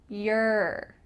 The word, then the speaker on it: your: Notice my lips when I say your compared to your. It's a little bit different. It kind of sounds like Y-E-R. This is the most natural, fast pronunciation for the word your.